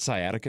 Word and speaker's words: sciatica: That's an old Well, that's part of it because is it sciatica? Is that how you say it? Yes.